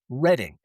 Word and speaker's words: Redding: 1880, officially Redding, r e d d i n g, forever. So, the man who built the entire region, Reading, or Redding, with an A, got out litigated by